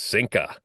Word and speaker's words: sinker: And if I'm pronouncing that properly, it's sinka. The multiplier involved rolling the